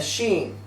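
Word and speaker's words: שׁ: And in writing the letter, if the dot is placed above the letter, it's pronounced a sheen.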